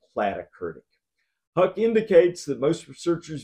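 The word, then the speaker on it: platykurtic: kurtic distribution is and plat kurtic distribution plat rhymes with flat so whenever I hear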